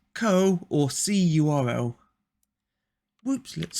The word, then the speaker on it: curl: one so 1.5 curl the co command is typically pronounced curl curl again the phrase C URL is incorrect okay interesting the co